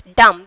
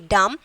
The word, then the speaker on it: dumb: Dumb. D-U-M-B. Dumb. Dumb. So B is the silent letter.